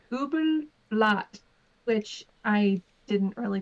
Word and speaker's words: Übelblatt: Ubedebot Blot? How do you say that? It's German. It's Übelblatt, which I didn't really pronounce correctly, but it translates to evil blade.